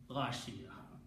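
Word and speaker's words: غاشية: So now this word together is just like in the Quran, Hadithul Ghashiyati, like here, but when you stop, you do not pronounce ta, Ghashiyah.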